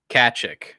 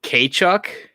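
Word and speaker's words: Tkachuk: The T is silent. Oh my god. If it's not Kachuk and it's not Kachuk, is it like Kachuk?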